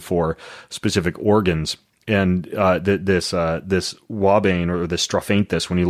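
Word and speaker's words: ouabain: You mentioned something else called, I don't know if I'm going to pronounce this right, wabane? I say wabane. Okay. Wabane.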